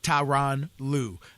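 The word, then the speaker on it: Tyronn Lue: name the wrong way so they actually sent out a phonetic pronunciation like you get in the dictionary of tyan Lou uh clearly people were emphasizing the taii and the rone and and separating the the emphasis on the syllables and it's it's tyan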